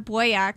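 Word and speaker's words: Boyack: me okay and boyak boak is spelled like boy b o y a c k and again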